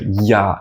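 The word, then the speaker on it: Я: reversed English R but it's pronounced like yah in yard yard this letter on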